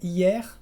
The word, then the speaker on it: hier: El primer caso es cuando la E está antes de una consonante final pronunciada. En general son palabras cortitas, por ejemplo, mer, que es el mar, o también hier, que es ayer.